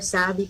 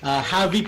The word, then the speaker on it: Xavy: So, ginawang spelling tapos ibang pronunciation. Okay, thank you. It's very unique kasi normally pag XA, ang pinasanay natin is Xavy.